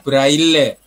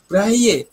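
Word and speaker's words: Braille: buta itu kan tulisannya braile Iya heeh itu Kan berasal dari bahasa Prancis jadi membacanya kan bukan brail tetapi anehnya lembaga yang berurusan dengan kegiatan itu Bray membacanya Bray itu braye Tapi ketika saya sampaikan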